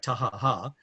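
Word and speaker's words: Taha'a: And you go over to the island of Taha. It's actually like Tahaha, but a lot of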